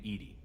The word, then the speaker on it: EDI: why are you named Edie Edie is the phonetic pronunciation of EDI that is an acronym for enhanced defense intelligence you and Joe how you getting along with Joker mr.